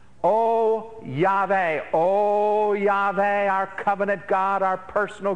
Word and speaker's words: Yahweh: It's probably pronounced Yahweh is perhaps the best pronunciation.